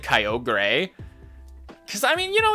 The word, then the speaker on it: Kyogre: Kyogre! Okay, so actually... Hang on. Just telling a little fun story. Hang on, I'm also gonna put back on the Pokemon Lo-Fi. Kyogre, Sapphire was like the one Pokemon game that